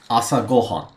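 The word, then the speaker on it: 朝ご飯: If you see the go in between those two kanji, you know it's pronounced asa gohan.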